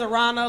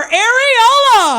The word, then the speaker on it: Aarona: oh my God uh my name is Arana like piranha without the PE I got to say